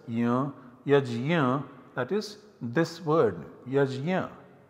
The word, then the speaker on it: yajna: that is this word yajna although it is pronounced in different ways in modern india in different places differently in maharashtra yes in some other parts or yagna in some other parts